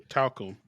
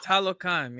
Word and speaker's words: Talocan: And then you get the arrival of Namor and That's how you say it? Talcum. What? Did you say talcum powder? It's Talocan, yeah. Talocan.